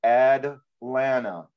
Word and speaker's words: Atlanta: There's no T in Atlanta either. If you're from Atlanta, everybody from Atlanta says Ad-lana. There are no T's.